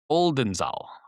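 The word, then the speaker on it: Oldenzaal: Okay, so it's spelled O L D N Z A L Oldenzal Oldenzal in eastern the Ne in the eastern Netherlands.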